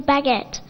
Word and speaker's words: baguette: A French origin word is baguette. In the end, it sounds like et, but it's spelled like E-T-T-E.